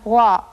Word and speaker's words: わ: らわわわ This sound wa is more relaxed than the sound in English words like water, so be careful not to round your lips when pronouncing it.